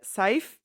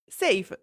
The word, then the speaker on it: Sayf: Uh I read his name as scythe. Apparently it is pronounced safe.